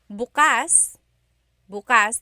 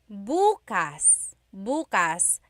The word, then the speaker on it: bukas: pronunciation if you say Bas buas the emphasis is on the second syllable that means open if you say buas buas emphasis is on the first syllable that means tomorrow very interesting like oh my